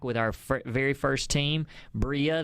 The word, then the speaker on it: Brilla: our very first team bria that's the way uh it's pronounced and that was also the reason why we came up with that name was to have the a spanish word so it's the spanish word for shine and we came up